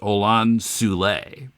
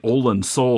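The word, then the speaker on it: Olan Soule: on and uh John said the name is pronounced Anan sule okay and I'd been pronouncing it ol Soul all this time but yes I had too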